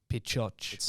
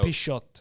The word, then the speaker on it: Pixote: How do you pronounce it? Pichoch. Or Pichot.